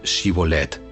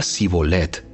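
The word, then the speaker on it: Shibboleth: no no lo soy ellos le pedían que pronunciara la palabra xivolette si era de Efraín diría sibolette porque a la gente de Efraín le cuesta pronunciar bien esa palabra entonces se lo llevaban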